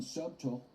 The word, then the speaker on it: subtle: Just subtle, which I guess in subtle, the B is more subtle than I am saying it right now.